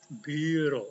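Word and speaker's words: Büro: Jermannya Iya biro biro cara bacanya biro ada u umlat u biro biro juga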